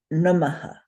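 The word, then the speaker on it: namaḥ: But for purposes of learning, I'm going to request us to say aha, because it tells you very strongly when you have a visarga in a word. And there are lots of visargas in lots of words. So this word, which means it's a greeting, is pronounced namaha, namaha.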